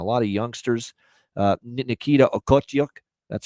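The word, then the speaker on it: Okhotiuk: pahal and a lot of youngsters uh Nikita otuk that's how you say it he might be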